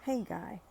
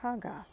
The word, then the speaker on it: Haggai: hagga and some people I've always known it as ha guy but um the pronunciation was haa so let's dig in